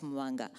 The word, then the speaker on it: Mubanga: The B specifically in Mubanga, that there is no hard B in Bemba.